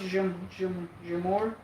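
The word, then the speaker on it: Džumhur: It's pronounced Jumhur.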